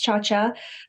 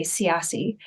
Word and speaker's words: Ciaccia: Yes, it's Ciaccia. Funny story is I didn't know how to pronounce that correctly. It's Italian until I went over to Italy. So my whole entire life, we would say Ciassi.